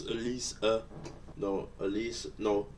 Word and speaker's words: Elise: on from the old you just said it wrong everyone's been saying they're wrong it's at least uh no at least